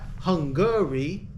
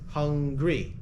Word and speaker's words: hungry: that's two syllables hungry it's not Hungary it's hungry all right the comparative is